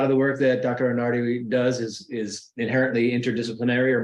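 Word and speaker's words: Anarde: Catherine Anard, and am I saying it correctly? Anard? Anardi. Thanks for asking. Anardi.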